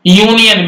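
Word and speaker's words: union: भी यहां पर ए लगा देंगे ध्यान रखना यूनियन में कभी भी आप अगर ए लगा के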